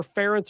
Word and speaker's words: Ference: Just remember Ference rhymes with parents.